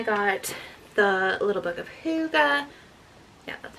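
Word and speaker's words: hygge: And then I got the little book of Huga. Yeah, that's how you pronounce it.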